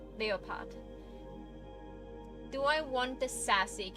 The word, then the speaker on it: Leopard: That's a cool name because like um Cleopatra uh Cleopatra and then Leopart uh uh leopard is pronounced leopard and in German leopart.